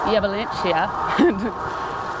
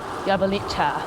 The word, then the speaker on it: Jablanica: So we've left Mostar and we're riding towards Jablanica. It's spelt in English like Jablanica. But everyone's been correcting us because it's like Jablanica or something.